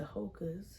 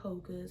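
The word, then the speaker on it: Hoka: Um I particular brand that I like is the Hocas. Um I don't know if you ever heard of Hocas. I think it's spelled H O K A S.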